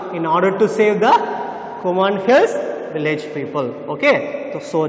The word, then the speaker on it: Kumaon: So the pronunciation is Kumaon Hills and Kumaon district. So he stayed in Kumaon district and started tracking the tigers.